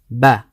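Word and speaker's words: بَ: So ba with a fatha, we pronounce it ba, and that's by opening the lips like this.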